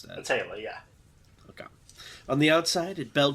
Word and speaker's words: Aetheral: How do you pronounce that? Aetheral, yeah.